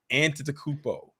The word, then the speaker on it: Antetokounmpo: I had to listen to it a couple times just to make sure I wanted to get the pronouncing correctly. Antetokounmpo.